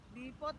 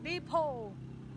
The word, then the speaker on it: Depot: Depot daw. Yan na. Silent T. Ay, Silent T daw. Depot.